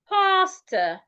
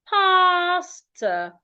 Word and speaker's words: pasta: Now this is rightly pronounced pastor, pastor. So do not pronounce the first word like the second word. No, they aren't pronounced the same way.